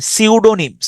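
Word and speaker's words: pseudonym: suede suede সিউডো সিউডো এন ওয়াই এম নিম সিউডোনিম মানে হচ্ছে ছদ্দ নাম এখানে দেখেন কিছু শব্দ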